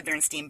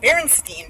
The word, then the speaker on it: Berenstein: the I sound so the e i makes the I sound all right and um so when I was doing my book report and I wrote the name Berenstein down on the paper